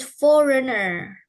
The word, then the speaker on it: foreigner: forigners oke chakra thank So we read this foreigner. Fore foreigner. Fore ya. Jadi tadi ada bacanya G-nya tadi dibaca foreigner.